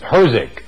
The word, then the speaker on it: HRSG: to as the boiler a common way of pronouncing HRSG is hosing HRSGs are also built